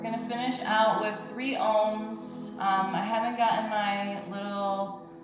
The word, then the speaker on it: Om: let's finish with three ohms we breathe in so the ohm is uh it's three syllables one more time deep